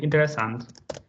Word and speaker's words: interesante: Interessant with e, you don't really pronounce it at the end. Interessant.